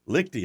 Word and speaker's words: Liechty: Liechty.